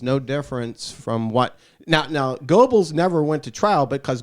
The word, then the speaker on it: Goebbels: I think it's pronounced Goebbels, by the way. What's it pronounced? Goebbels. Goebbels. Okay, like gerbils.